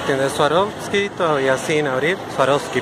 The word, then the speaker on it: Swarovski: Swarovski todavía sin abrir Swarovski perdón no se pronuncia la B Acá está la otra